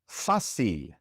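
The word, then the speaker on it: fácil: This word ends in an R. And so normally the stress would be on the last syllable, but it's not. It's on the second to last syllable.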